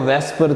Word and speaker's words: VSEPR: जरा देखिएगा, वेस्पर theory सबसे पहले इसको सम टाइम वेस्पर भी पढ़ देते हैं बेटा, तो असल में इसको वेस्पर ही प्रोनाउंस किया जाता है।